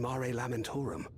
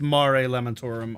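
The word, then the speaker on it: Mare Lamentorum: It appears he's not in Mar Lamorum. It is Mar Lemontorum. Okay, I've been saying it correctly.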